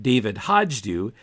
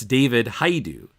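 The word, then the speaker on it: David Hajdu: the ten cent plague his name is not David Hodge do it's David hi do Yanks now I think to google it by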